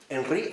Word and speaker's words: Henry: parte precisamente del fenómeno Cómo se escribe enri h e n r y Michelle Henry la esencia de la manifestación Y si alguien lo lee en francés mejor sí claro no Para